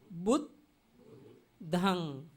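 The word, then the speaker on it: Buddhaṃ: At that time, the first joined word we have to pronounce with beginning word. Bud, bud, bud, dhang, bud, dhang. This means only two syllables, two letters, according to the Pali.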